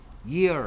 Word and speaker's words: year: 우리말에 쓰지 않는 여 라는 소리가 있기 때문이야. year 라는 발음에.